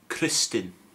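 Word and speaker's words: Crystyn: Crystin. Again, that's the Y pronounced differently. It's it's the U sound.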